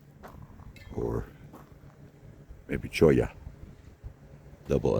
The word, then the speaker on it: cholla: In case you're interested, that plant is called cholla. Or maybe choya. Double L is this probably Spanish. Double L or Spanish is pronounced like a Y.